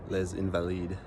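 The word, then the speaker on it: Les Invalides: So, correction to my earlier pronunciation. Place is called Le Invalid.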